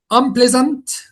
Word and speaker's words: unpleasant: Unpleasant. Fabulous. Specialize. Operate. Maybe fabulous. I think operate. Unpleasant. Yeah, unpleasant. Unpleasant. Because the stressed syllable here is the second one.